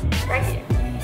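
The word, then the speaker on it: brekkie: Brey Brey means breakfast Brey b r e k k i e Brey that's how you say it's basically in Australia all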